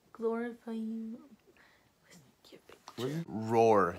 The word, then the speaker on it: Roar: Roar. He's literally named Roar, like a lion roar.